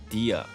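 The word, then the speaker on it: Dehya: how you say her name in English anyway Dia the H is like the basically I just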